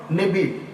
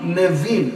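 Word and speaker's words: נביאים: நெபீம். நெபீம், நபீம், நெவீம், இந்த 3 உச்சரிப்புகளும் சரி.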